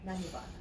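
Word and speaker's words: धन्यवाद: Dhanyavad. Danibad?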